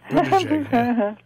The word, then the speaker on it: Buttigieg: Buttigieg. Yeah. Think of boot, ah, and JPEG.